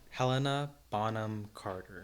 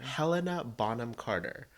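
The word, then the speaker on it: Helena Bonham Carter: botom Carter her real name is harder to pronounce than Bellatrix lrange can you say it again Helena bonam Carter Helena bonam Carter cuz she was also playing an an hinch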